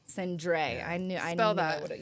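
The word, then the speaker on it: Cendré: Yeah, like a little It's It's a French word.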